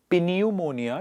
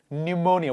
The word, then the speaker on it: pneumonia: more time psychology pneumonia not pineumonia it is pneumonia what is it pneumonia